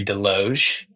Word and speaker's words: Desloge: Um, so my name's De Loge. Sorry, I had to toss that in there. Uh, the S is silent, but so yeah, I work at Harbor House Collective.